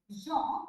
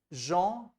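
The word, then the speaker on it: gens: So now sir, the word is, for example, G-E-N-S, Jean, Sure. and J-E-U-N-E, Jean. So both are Jean only. no? Yeah, Jean so G-E-N-S and J-E-U-N-S. Jean, jeune.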